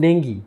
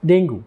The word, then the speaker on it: dengue: chances you must have suffered from dingi or more commonly pronounced as dingu Hello friends I'm Dr